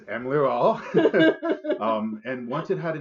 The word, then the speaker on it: Emlearal: it the name of Emlearal, which a lot of people ask me about how to say that. I think I've been saying it wrong. But it is Emlearal.